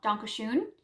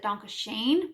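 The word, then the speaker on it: Danke schön: ferris sings a song donkey shoon which in english is i think the singer mispronounces it donkey shane which would be like thank you kindly and he later sings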